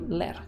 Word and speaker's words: lair: In British English, it's said as lair. Lair.